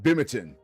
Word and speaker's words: Binghamton: Or you really know someone's from Binghamton when they call it Bimington. If you hear someone call Binghamton Bimington, they are absolutely from Bimington. 120%. They put a little too much emphasis on the syllable there.